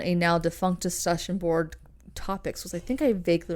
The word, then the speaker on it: Topix: now defunct discussion board topics was, I think I vaguely remember that discussion board. Topics. Yeah, do you remember that discussion board? Maybe. It's spelled TOPIX, like kid pics.